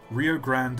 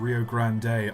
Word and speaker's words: Rio Grande: for the Rio Grand Rio Grand and Rio Grande are actually both correct that's annoying too when